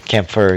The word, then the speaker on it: Kampfer: Campbell Willie Mitchell and camper stefan or kipfer Kampfer yeah that's how you say it Campbell I know this